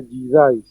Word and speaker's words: jidai: pátina antigua es jidai se escribe con j y se pronuncia jidai cuando se habla de